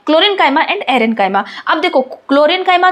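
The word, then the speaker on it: chlorenchyma: यहां पे हम क्लोरेंकाइमा बोल रहे हैं ना कि कोलेनकाइमा।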